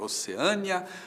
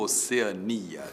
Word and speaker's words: Oceania: E agora, Oceânia ou Oceania? Tanto faz, tanto faz. As duas formas existem e você pode dizer que a Austrália fica na Oceânia ou na Oceania.